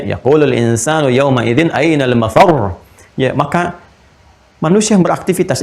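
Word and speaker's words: المفر: insanu yawma idzin ainal mafar. Mafar ada tasdidnya tuh. Ya, ainal mafar. Ada tasdidnya, makanya bacanya juga bukan mafar. Awas. Ya, bukan mafar.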